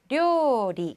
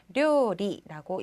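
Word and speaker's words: 料理: 료리, 그렇죠. 약간 리을 발음 주의를 좀 해주셔야 한다는 거. 료리라고 얘기를 해주셔야 합니다.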